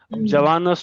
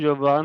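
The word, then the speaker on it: زبون: निमस्तारी या लिखनी वाली जबान है जवान को जबून बोलते हैं अब बोल देखिए जवान जबून थोड़ा जल्दी निकलता है ना तो इसलिए जबून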